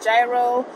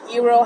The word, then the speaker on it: gyro: restaurant on the screen I had the gyro or Euro however you want to pronounce it and now we're actually